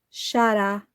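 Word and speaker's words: שָׂרָה: E o Criador do céu e da terra, Yahuwah, disse que ela não se chamará mais Sharai, mas se chamará Shará.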